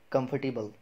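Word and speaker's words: comfortable: हमारा जो आज का लास्ट वर्ड है वो है कंफर्टेबल। क्या है? कंफर्टेबल। तो कंफर्टेबल नहीं बोलना आपको, आर इसमें भी साइलेंट है।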